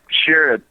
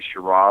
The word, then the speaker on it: Sherrod: Which is the accurate pronunciation of your last name? Well, it's Sherrod, but I'm from South Georgia, and I hear people say Sherrod all the time.